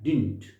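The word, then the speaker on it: didn't: एक सेकंड, थोड़ा सा यहाँ पे ये क्या है, डिडंट नहीं, डिडंट नहीं है ये, इसका प्रोनाउंसिएशन होता है डिंट। क्या है ये, डिंट। अक्सर आपने डिडंट बोलते हुए सुना होगा, ये बिल्कुल गलत है, डिंट।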